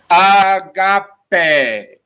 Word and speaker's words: agape: certain expression here and it's agape a G a P E and we're gonna put the apostrophe there because it's pronounced ah got a got a an agape is